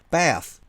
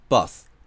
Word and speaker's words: bath: だけど th に気を取られちゃってバスh で発音しちゃったりとか、あと長い単語ですね。